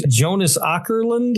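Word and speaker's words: Jonas Åkerlund: Jonas Ourland.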